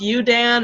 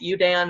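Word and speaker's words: UUDAN: a program of uu FN and it's it's pronounced you Dan it spelled uu da n but we pronounce it you Dan it's the uu Delaware advocacy Network there are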